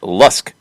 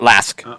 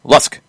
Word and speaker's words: LASK: Our Austrian club in question is pronounced like Lusk, not Lask, or not Lask. Lusk.